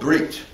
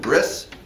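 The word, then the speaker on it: brit: commandment unique among all the commandments it's called breit right during the Ashkanazi Hebrew pronunciation brris but usually we say now breit same word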